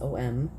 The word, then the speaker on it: om: these words sound like ohm is om namo is na mo and the one that